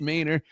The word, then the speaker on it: Mähner: And Siler Silus Mayor is one of those types of guests.